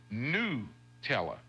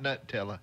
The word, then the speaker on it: Nutella: IKEA Nutella yes so the beginning sounds like the word nut but the right way to say it is new teller no is new like any W tell her not new in you H tell her okay you got it and not nut tell her not not to know